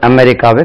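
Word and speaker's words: America: கலம்பஸ் discovered அமெரிக்கா கலம்பஸ் அமெரிக்காவை கண்டுபிடித்தார் அதுக்கு உச்சரிப்பு பாருங்க உச்சரிப்பு எப்படி அமெரிக்கா அமெரிக்கா voice of அமெரிக்கா அது அமெரிக்கா அமெரிக்கா அமெரிக்கா செகண்ட் ஸ்லபல் பஸ்ஸ கலம்பஸ்டிவ அமெரிக்கா கலம்பஸ் டிஸ்கவர்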